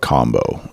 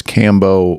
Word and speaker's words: Kambo: going to talk about combo otherwise known as Cambo or honestly both of these are kind of Western or American pronunciations of it I believe South of